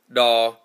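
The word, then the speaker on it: tos: T-O-S is pronounced daw. The tongue in the D sound is compressed up against the front two teeth and the top of the mouth, the top of the alveolar ridge, much like this.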